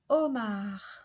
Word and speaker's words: homard: And finally, in most words beginning with HO, the O is pronounced open. Like in the word hôpital, we have already seen that. Hôpital. And homard, lobster. Homard.